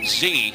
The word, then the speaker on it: Xe: In fact, we at Blackwater are so eager not to accept accolades for our work that, we changed our name to, it's XZ, but we pronounce it Z.